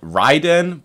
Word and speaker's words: Raiden: we have the Raiden which apparently is supposed to be pronounced ryen but I I don't know if I can I I feel like I've just called it the Raiden for too many years